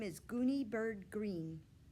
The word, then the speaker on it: Greene: name is gooney bird green that's green with a silent e at the end and i just moved